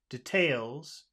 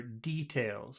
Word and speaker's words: details: because some people say details and some people say details so it could the accent could be either way I prefer I prefer details I prefer it on the first syllable yeah we'll do that